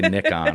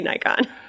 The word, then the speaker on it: Nikon: up about it because she didn't say nickon or something weird like that do you people people pronounce Nik wrong it's weird I'm like